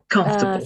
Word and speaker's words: comfortable: Remember that Ford casi no se va a pronunciar. Entonces, básicamente, comfortable.